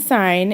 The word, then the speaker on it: sine: at this box here um this sign uh it's spelled s-i-n-e we use the abbreviation s-i-n okay that's sine